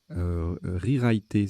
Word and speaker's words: rewriter: Rewriter, ça se prononce comme ça, R-E-W-R-I-T-E-R. Swinger, participe passé invariable.